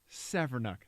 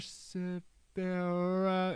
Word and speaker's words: Severnuk: Severnuk." They nailed the last name pronunciation, which rarely happens. Okay. Right? Yeah. Normally it's Mr. Severa.